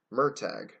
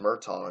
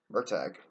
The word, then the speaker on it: Murtagh: Pronunciation, it's Murtagh. And I know I actually thought it was pronounced Murtaugh until I saw that. Yeah, but it's Murtagh.